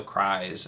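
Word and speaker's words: Crys: physical one one the they pronounced the character cries I would have thought it was Chris or something or Chris or something but no cries and that was a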